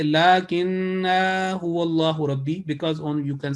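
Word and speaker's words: لكنه والله: So it will be the right pronunciation will be lakinnahu wallahu, lakinnahu wallahu.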